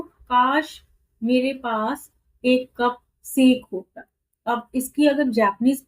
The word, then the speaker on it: sake: For the heart-warming drink called sake was very expensive, देखो यहाँ पे इसके ऊपर ये डैश सा है इसलिए इसको साके प्रोनाउंस करते हैं, लेकिन हम सेक लेके बोल सकते हैं अभी इंग्लिश में।